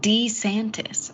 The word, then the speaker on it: DeSantis: fast we'll have to see and Ron DeSantis pronounced his own name in an ad d santis I'm Ron D santis he did yeah are